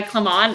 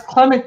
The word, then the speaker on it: Clement: your name clement cause i know a guy clem on and i know that that's not how you pronounce it so i'll stop doing that okay that's clement to you yeah i'm